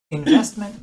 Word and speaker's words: investment: Usually American style, the middle T just becomes kind of gone.